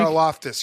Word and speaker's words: Karlaftis: Karlaftis, yeah, he's Greek, yeah.